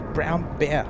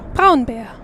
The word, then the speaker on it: Braun: He told me it's Brown Bear. Braun Bear.